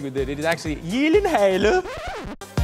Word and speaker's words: Gyllenhaal: It is a Swedish name. So shouldn't it be like Gyllenhaal?